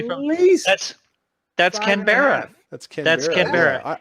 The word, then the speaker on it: Canberra: Canberra, like Canada bear. Cranberry.